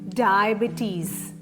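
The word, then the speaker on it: diabetes: ഇത് എങ്ങനെ പ്രൊനൗൺസ് ചെയ്യും ഡയബറ്റീസ് ഡയബറ്റീസ് നാല് സിലബിൾ ആണ്ഉള്ളത് സ്ട്രെസ്സ് ചെയ്യേണ്ടത് തേർഡ് സിലബിള ആണ് ഡബിറ്റീസ് ബിറ്ീസ് ഡയബറ്റീസ് ജിഇടിഎച്ഇആർ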